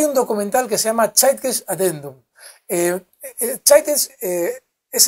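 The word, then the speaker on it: Zeitgeist: reserva Federal hay un documental que se llama chites adendum eh chites eh es el espíritu del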